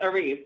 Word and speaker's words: Arisce: It's Arisce. It's just Arisce.